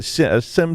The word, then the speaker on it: SIEM: on to talk about SIEM tools. I always say SIM tools, and how they aren't so great.